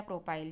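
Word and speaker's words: propyl: Chain, तो वहाँ पे यूज़ करेंगे प्रोपिल या प्रोपाइल, जो भी आप प्रोनाउंस करें दोनों सही है।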